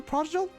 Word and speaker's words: prodigal: Oh, it is pronounced with a hard G.